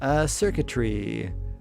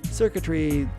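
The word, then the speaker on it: Xurkitree: Circuitry. It's like a tree, but circuits and circuitry. Like CIRCUITRY, but it's spelled in its actual name with X.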